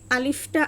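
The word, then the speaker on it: ألف: কারণ হচ্ছে আলিফটা আরবিতে বানান করতে হলে আমাদেরকে প্রথমে হচ্ছে হামজার উচ্চারণ নিয়ে আসতে হয়। আলিফ আলিফ এবং শেষে বাতাস বের হয়। কারণ হচ্ছে শেষে উচ্চারণে ফা আসে এবং ফায় হচ্ছে বাতাস জারি থাকে। হামসের হরফ তোফা। এজন্য আলিফ আলিফ আলিফ।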